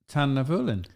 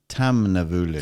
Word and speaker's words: Tamnavulin: the first thing is, can he pronounce the name? And the answer is almost certainly not. Go on. Tamnavulin. Tamnavulin. Tamnavulin.